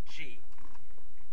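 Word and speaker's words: Ji: he gets the Samurizer taken away by Mentor G, which is J-I, that's how it's pronounced in the show.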